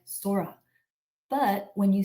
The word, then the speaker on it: Sora: remembered how Harmony would say her name with a soft s and a gently rolled R when I say the word Sora in English it sounds like Sora but when you say